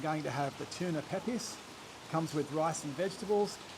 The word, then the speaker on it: Pepes: That's the tuna peppers. How do you pronounce peppers?